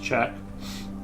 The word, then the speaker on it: Czech: Pronounced check.